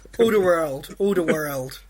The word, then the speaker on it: Alderweireld: The guy's got to go through, but I can't pronounce his name. Alderweireld.